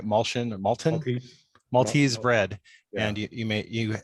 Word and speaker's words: Maltese: I saw you make an unusual loaf of Maltion. Is I saying it right? Malton? Maltese, Maltese bread.